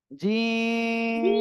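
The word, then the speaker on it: جيم: এই যে সবাই একসাথে উচ্চারণ করেন জিম তিন আলিফ টান হবে কয় আলিফ তিন আলিফ জিহ্বার মাঝখান তার বরাবর উপরের তালুর সঙ্গে লাগিয়ে শক্ত আওয়াজে উচ্চারণ হবে ঠিক আছে তারপরে এই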